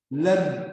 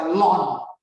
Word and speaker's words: ln: Lalu ada tulisan LNB yang dibaca len. Kalau saya bacanya len. Kalau dosen saya ada yang membaca lon, LON.